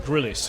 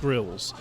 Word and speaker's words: Grylls: Well, the Americans call him Grillis. He's actually pronounced Grills.